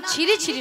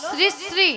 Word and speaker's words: শ্রী শ্রী: আরে মাসি ওনার নাম ছিরি ছিরি নয়, বলো শ্রী শ্রী। ছিড়ি ছিড়ি ছিড়ি ছিড়ি ছিড়ি ছিড়ি যেন সারে গামাপা হচ্ছে। আমি বলেছি শ্রী শ্রী, উচ্চারণ ঠিক করো।